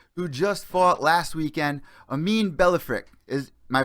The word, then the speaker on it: Amine Ballafrikh: I got another special guest from Lion Fight who just fought last weekend, Amin Ballafrikh. Am I pronouncing that correct?